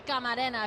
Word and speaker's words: Camarena: It's really Camarena if you want to say it correctly.